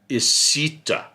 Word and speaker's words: esita: school riverside school yes esita esita is how you say it and that is the blackfoot way to say riverside which is the new